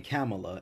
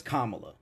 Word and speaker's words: Kamala: kept mispronouncing cela's name he kept saying camela and they were like no it's Kamala and one of the